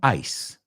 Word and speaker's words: ice: And the other one, ice. Ice. That's a So ice. Say these aloud with me. Ice rhymes with mice. Ice rhymes with twice. Ice rhymes with dice.